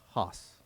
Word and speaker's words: Hause: we're on I'm here with Tim and Dave Haas does that pronounce that right you did Shane awesome Gene